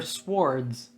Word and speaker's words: sword: They're finding their swords. Their swords. Made by Isn't it weird how the W is silent in sword?